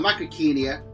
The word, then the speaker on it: Macrauchenia: Safari's megafauna models, but Macrauchenia, or Macrauchenia, as some folks pronounce it, was completely brand new